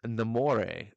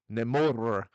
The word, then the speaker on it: Namor: of touch they are morania says it's namore like pronounced amore yeah it's a no no more and rhaegar says it's nemour you gotta roll your r's name okay uh rhaegar